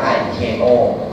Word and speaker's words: ICAO: Organization ชื่อ ยาว เลย icao อ่าน ว่า iko เป็น อง การั การ